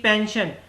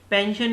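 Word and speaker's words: pension: ऐसे ही पेंशन, S के बाद देखिए पेंशन में ION आ रहा है तो इसलिए हमने इसको शन बना दिया, पेंशन।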